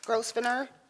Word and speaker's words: Grosvenor: Grosvenor, Here. Okay, it's my understanding Mr. Grosvenor's name is the S is silent.